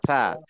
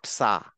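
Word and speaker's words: ث: না ফা থা, একটু বাংলা ইংলিশটা লিখতে গেলে টি এইচ, এটা হচ্ছে থা, আচ্ছা, ফা আচ্ছা, থা, নট সা।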